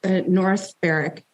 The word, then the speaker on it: North Berwick: So it was North Berwick. Am I pronouncing that correctly?